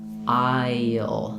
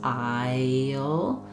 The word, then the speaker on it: I'll: But what you'll hear is that it kind of sounds like I, and then as I'm moving from that front I, that kind of high front vowel, to the sound before the L, I end up with a little y connecting them.